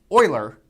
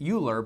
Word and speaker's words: Euler: So this is named after a very famous mathematician by the name of Oiler. Uh his name is written like you would want to pronounce it uler but it's it is pronounced oiler.